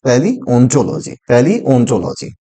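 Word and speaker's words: paleontology: The right pronunciation is पैलियोंटोलॉजी।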